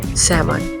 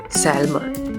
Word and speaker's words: salmon: word number seven salmon here the letter i is silent say salmon not salmon for example salmon needs a healthy fish to